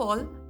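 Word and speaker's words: अ: swar in Hindi, and the first vowel of Hindi is A. A is pronounced as the pronunciation of A in the word ago or U in the word up.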